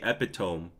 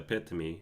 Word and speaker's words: epitome: adjacent yeah and then there was always epitome I used to say epitome but then there was epitomy yeah now I'm I'm upgraded to epitomy and then there's other